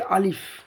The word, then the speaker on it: ا: আলিফে কোনো টান হবে না, আলিফটা হবে দুটো ঠোঁটের মিডিল থেকে বেরিয়ে যাবে।